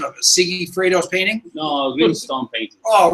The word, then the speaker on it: Sigifredo: Okay, my name is Sigifredo. Spell it.